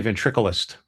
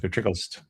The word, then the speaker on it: ventriloquist: No, they a lot of people say ventricleist. Ventric. Yeah. Ventriloquist. Yeah. Fish.